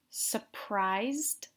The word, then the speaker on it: surprised: Notice that I don't really pronounce the R here. I say surprised, but you don't really hear the R there.